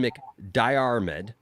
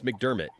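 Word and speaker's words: McDiarmid: convention star wars vet ian mcdermott uh or ian mc diarmed i've never pronounced it right so mcdermott it's mcdermott it's ian mcdermott yeah it's ian mcdermott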